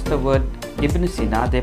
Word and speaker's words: Ibn Sina: system they did not work pronounce the word ibnucina they pronounced the word avicinia and therefore he is known as avicinia even